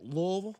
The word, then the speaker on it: Louisville: could lose to Louisville that's how you say it by the way Louisville Louisville yeah K Adams